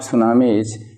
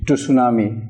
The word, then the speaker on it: tsunami: will discuss it but here the spelling of tsunamis t su en ami years some pronounce it - tsunami that is rank real pronunciation is tsunami and